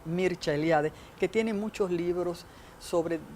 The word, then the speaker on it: Mircea Eliade: Y tengo que hablar de un estudioso de las religiones, Mircea Eliade, que se pronuncia en rumano, porque es rumano, Mircea Eliade, que tiene muchos libros sobre las religiones comparadas y los mitos y tal.